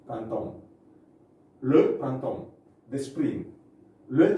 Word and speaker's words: printemps: Le printemps, okay, we pronounce this printemps, okay, printemps.